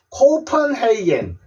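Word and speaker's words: Copenhagen: 읽는 거는 조금 달라지게요요 오자를 오라고 발음해 보십시오 그러마 코가 아니고 코우 코우 펜 펜인데 요거 를요 어 소리로냅니다 그래서 코헤이요 자는 a 소리가 또나요에겐 코 헤이겐 코펜하겐 코펜하겐 있데 외국 가서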